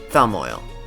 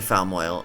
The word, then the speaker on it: Falmoil: Hence the silent L in the name would be like the other two popular regional fish.